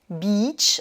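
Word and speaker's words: beech: Le hêtre, beach, donc là c'est un homophone de la plage, qui s'écrit avec EA.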